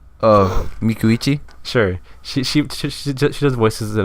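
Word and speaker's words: Micucci: I am the resident pronouncer. Oh, Mikuichi.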